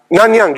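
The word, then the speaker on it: Nanyang: there's a kind of is it non young Technical University or how is it called the thing that's couple of kilometers from here nanang yeah okay so in nanang Technical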